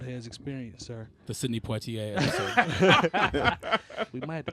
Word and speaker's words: Poitier: Poitier.